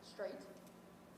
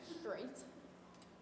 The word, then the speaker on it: straight: Straight. Say it. Straight. Spell it for me. S-T-R-A-I-G-H-T. Great. Now say it like you spelled it. Okay. Straight. Not straight. You're putting Okay. an H in it.